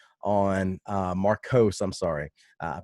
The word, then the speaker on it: Markos: Louis Marco on Markos. I'm sorry. I mispronounced your name right off the first bat.